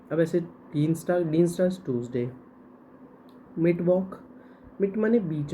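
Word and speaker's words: Mittwoch: कहा जाता है अब ऐसे नट डीन ट्यूजडे मिट वक मिट माने बीच में वक जो भी बीच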